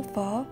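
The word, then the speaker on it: Phở: 베트남 쌀국수 예언을 살펴볼까요 베트남 아로 퍼 퍼 라고 발음 됩니다 이 퍼 이율에 관한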